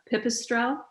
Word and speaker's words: Pipistrel: the slovenian company and i don't know if this is correct my pronunciation but uh pipistrel yeah that that is the correct pronunciation for the stroll through